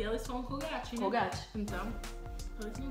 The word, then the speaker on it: Colgate: It's Colgate. Óbvio que é gay. Por que eu nunca pensei nisso? Colgate. Eu vi isso nas stories do minha amiga ontem. Olha, gente, comprei Colgate. Eu pensei, nossa, que bonitinho. É porque gate de portão, Colgate.